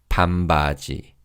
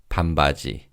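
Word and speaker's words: 반바지: Now, in terms of pronunciation, the non in the first syllable changes to mium in fast speech. So rather than saying pambbaji, it will sound like pambi. Pambagi. Let's practice saying shorts. Pambaji.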